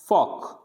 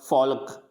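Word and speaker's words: folk: Walk, फॉक, यानी L नहीं पढ़ेंगे, ऐसे नहीं पढ़ेंगे टॉलक, वॉल्क, फॉल्क, यानी टॉक, L क्या रहेगा, साइलेंट रहेगा।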